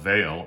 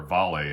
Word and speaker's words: Vale: The first big one I came across is a Brazilian company called Vale, or Vale, I think is how they pronounce it in Portuguese, ticker symbol VALE.